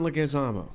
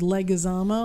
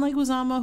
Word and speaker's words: Leguizamo: in the world John Leguizamo yes can you tell me why you say his name is leg azama like Osama it's like we tell